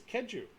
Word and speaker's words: Keju: They have a pronunciation key. It's Keju. Keju Kamal. I was right.